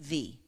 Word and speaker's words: vie: Victory, valiant, virtuous, lots of good V words. But then she found this little three-letter word, V-I-E, pronounced V, which in French means life.